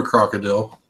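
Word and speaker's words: Krokodil: No, I've heard of a crocodile. No, it's spelled with a K. Crocodile, not crocodile.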